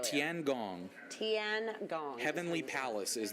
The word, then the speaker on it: Tiangong: out on this thing and how do you pronounce it again cuz I think I said it wrong right tiangong TN God heavenly Palace is the translation in